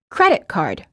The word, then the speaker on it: credit card: which is pronounced as credit card in compound nouns the first word is stressed and the two words are said together with no pausing in between the words key and